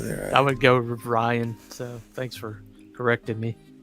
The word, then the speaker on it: Rion: All Yeah, right, so they're, I would go with Ryan.